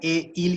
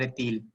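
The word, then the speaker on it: est-il: मतलब है, ठीक है, इसको तिल क्यों बोल रहे हैं, इसको कैलर ए ईल क्यों नहीं बोल रहे हैं, तो जब भी मैंने बताया आपको हाइफन लग जाएगा तो टी को हम इसके साथ प्रोनाउंस करते हैं, तो हम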